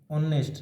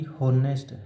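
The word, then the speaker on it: honest: उच्चारण करके देखें तो इसका उच्चारण करेंगे। ऑनेस्ट ना कि होनेस्ट है का।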